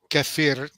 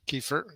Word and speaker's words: kefir: And the way you get kafir is the word kefir in English pronunciation.